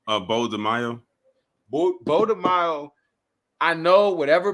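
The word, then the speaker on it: Beau DeMayo: Bo DeMaio.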